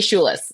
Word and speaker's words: Schulis: And so Schulis, anything across the board, you Google Schulis, you can find, and it's SCHULIS. Everybody, I always say it's spelled like school with a U-I-S.